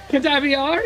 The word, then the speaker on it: Cadavier: About 2 weeks passed between having dinner at the lovely, and I quote, Cadavier, I think is how we pronounce it. Cadavier? Yes, that's right.